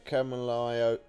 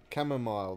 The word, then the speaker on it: chamomile: I'm pretty sure it isn't huh oh yeah Camelio lotion come on I can't say it properly but it camera Jordan can you say it chamomile that's it chamomile lotion I kept saying it